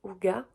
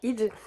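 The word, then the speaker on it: hygge: très bien qui se qui s'écrit du coup idge mais qui se prononce houa je crois ou je sais pas très bien comment comment ça se prononce mais je sais que ça ne se prononce pas idge et en l'occurrence donc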